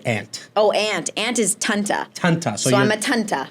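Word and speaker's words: tante: And how's it pronounced in Dutch again? Her name? Like aunt. Oh, aunt. Aunt is Tanta.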